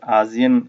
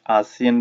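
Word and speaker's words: ASEAN: फिर जी आजियन, कुछ लोग आजियन कुछ आसियन भी प्रोनाउंस करते हैं, क्योंकि एशियन साउथ एशियन से लिंक है इसका।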